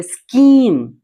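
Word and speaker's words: scheme: करते हैं that is देखिए सी के बाद क्या आ गया एच आ गया तो ऐसी कंडीशन पे एच भी यहां पर नहीं पढ़ेंगे लास्ट में तो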